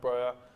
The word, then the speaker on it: Broja: They nearly just had one there with Broja. If that's how you say his name, I forgot. Yeah, that is how. Broja.